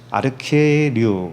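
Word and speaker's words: ἀρχιερεύς: 히에류가 제사장이란 뜻인데, 그 앞에 아르케라고 하는 그 우두머리라고 하는 단어가 붙어서 이 아르케류 이렇게 발음을 하고 있어요.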